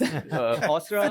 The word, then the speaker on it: Ausra: Almost correct. Ausra.